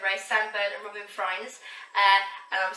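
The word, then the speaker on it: Frijns: so I now know the proper way to say Robin Freins is Freins, not Fringe, as in fringe.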